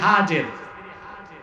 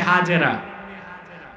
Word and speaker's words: হাজের: আল্লাহ নির্দেশ করলেন ইব্রাহিম এবার তুমি তোমার স্ত্রী হাজের যাকে আমরা বলি হাজেরা হাদিস শরীফে তার নাম এসেছে হাজের কি নাম